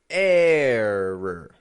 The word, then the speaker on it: error: Error. ERROR. Error. Strong, weak. Now, yes, I'm aware of the fact that the beginning of that is an ER. But notice, I'm not giving it an error. Error. Stretching that A sound out there. A. And then flat. Schwa R ending.